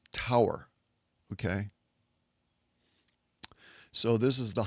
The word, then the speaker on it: Taur: And for one layer, it's spelled t aur, but it's pronounced tower.